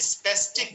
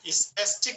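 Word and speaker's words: spastic: আচ্ছা, স্পেস্টিক নিস নক, ঠিক না? কাগজটা মালিককে দিয়ে দেবো তো। আচ্ছা, স্পেস্টিক মানে হলো স্পাস্টিক, উচ্চারণটা হবে স্পাস্টিক মানে হলো মানে আক্ষেপ।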